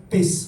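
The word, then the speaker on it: παῖς: El término griego que Reina Valera 60 traduce como criado es la palabra griega pes, así se pronuncia, como es homófono con pez, pero tiene otro significado.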